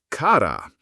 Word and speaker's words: cara: I'm talking about cara, pronounced cara.